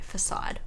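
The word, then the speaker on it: Façade: to check pronunciations because i know how to pronounce words okay facade good i didn't pronounce that weirdly okay known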